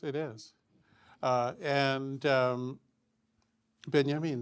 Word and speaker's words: Benjamin: Uh and um beyamin that's right that would be the pronunciation.